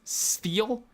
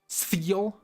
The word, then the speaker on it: Spheal: His name's hard to pronounce. Spheal. It's like an F. Spheal.